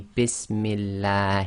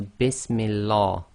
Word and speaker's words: bismillah: very common words bismillah so this is actually bismillah he now some people who don't know the rules they might accidentally say bismillah you cannot say bismillah you must say bismillah